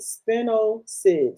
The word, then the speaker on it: spinosad: Captain Jack's contains spinosade. How do you say it? Spinoside.